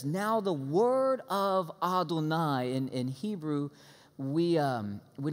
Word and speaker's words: Adonai: up and it says now the word of Adonai and in Hebrew we we don't like to say you're yahweh we don't pronounce his name so we say ah don't I so every time you see Aden I just